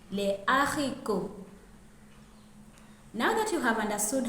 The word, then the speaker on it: haricots: H aspiré is also found in the word for beans in French, les haricots.